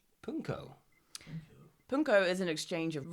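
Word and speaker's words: pwnco: or more traditionally indulge in a ritual called punco. Punko. Punko is an exchange of rude rhymes with the person who lives there.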